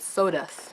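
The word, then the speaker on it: Sodus: by a man called sodas s OD us and I was looking at it I said it out loud and well that sounds like the word soul dust so it has really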